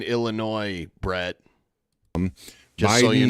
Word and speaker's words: Illinois: The S is silent in Illinois, Brett.